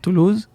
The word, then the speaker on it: Toulouse: grew up in in France how do you pronounce that Toulouse - Toulouse yeah saw the Frances I wasn't